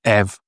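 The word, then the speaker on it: ευ: And the f, again, is pronounced ev or f. It has two possibilities.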